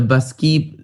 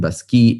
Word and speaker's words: Baschi: And the Basquis name sort of rhymes with the name Bacchus, the god of wine.